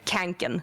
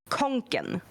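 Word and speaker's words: Kånken: I see it everywhere and I see people pronouncing it wrong everywhere. But yeah, canen and I'm like every time every time there it is conen because you conen which means you carry something at to carry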